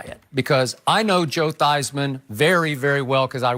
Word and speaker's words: Theismann: for a Heisman campaign he actually changed the pronunciation of his last name from Theismann to Theismann to rhyme with Heisman beer so Joe did